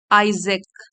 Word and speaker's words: Isaac: में तो आइए शुरू करते हैं तो कैसे प्रोनाउंस करेंगे आइजक आइजक Newton sir आइजक Newton आइजक Newton वास